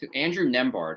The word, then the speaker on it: Nembhard: So and I can't really pronounce this guy's name. Andrew Nembhard, I believe is how it's pronounced. Nembhard, yeah.